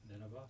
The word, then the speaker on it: Nineveh: Nineveh.